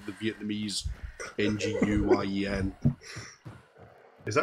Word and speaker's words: Nguyen: I choose to imagine that you're not saying as in W-I-N-G, but as in like the Vietnamese N-G-U-Y-E-N. Is that how you pronounce that?